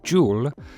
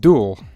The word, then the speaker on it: dual: Someone was saying I say Joule instead of dual. I guess Americans say dual and the Canadians say dual, and in the UK we sometimes say Joule, but sometimes we say dual.